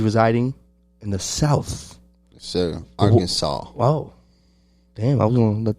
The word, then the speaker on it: Arkansas: city now he's residing in the south side arkansas wow damn i'm gonna let them guess which statement let me stop but yeah he's in arkansas yeah our kansas arkansas arkansas get it right get it right yep